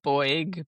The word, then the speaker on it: Beug: Is it Bug? Actually, I didn't even check how to say your surname. It's It's Bug. In German, it's Boy, but in American it's Bug. So, there you go.